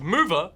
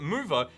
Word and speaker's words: MoVR: Presumably pronounced mover because geeks can be clever.